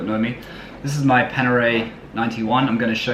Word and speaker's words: Panerai: trouble for saying wrong i actually know it's panerai i do know it's panerai it's like porsche